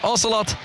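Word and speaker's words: Ocelote: i'm afraid we're technically correct we're technically correct ocelot is a proper pronunciation there with his scarf on as always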